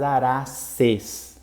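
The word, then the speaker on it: Araceae: Então, por exemplo, a família das Araces se escreve Araceai, mas se lê Arace, porque o ditongo tem som de E, tá bom?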